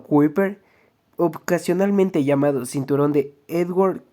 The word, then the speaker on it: Kuiper: tno el cinturón de kuiper pronunciado kuper ocasionalmente llamado cinturón de